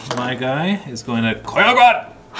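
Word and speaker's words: Koiogran: Then my guy is going to Koyogwan! Which apparently is the proper way to say it. Accent and all.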